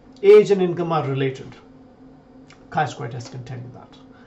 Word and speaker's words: chi-square: something really simple which is known as a chi-square test CH I you can pronounce it to get T squared on a